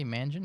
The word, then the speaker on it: Mangion: it's good to be here um i did pronounce your name correctly imagine is that correct you pronounced it absolutely correctly